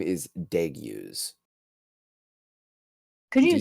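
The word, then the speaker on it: Degiuz: city in real and the Demon's name is deu could you spell that yeah d e g i u z deu okay he's an ice demon embodying the essence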